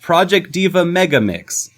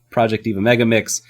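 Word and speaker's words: Project DIVA MEGA39's: No, it's Project D.Va Mega39, which is actually pronounced Project D.Va Megaix. It says the word 39 on the end, but that is pronounced Project D. Megaix.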